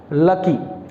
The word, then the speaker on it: lackey: Pronounce as what? लकी। Spelling is LACKEY। इट is also a noun LACKEY नॉट LUCKY LACKY lucky.